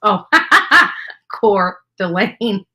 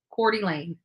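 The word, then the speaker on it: Coeur d'Alene: never pronounce that properly so Idaho which is pronounced oh core Delaine Thank You Caroline for helping me out you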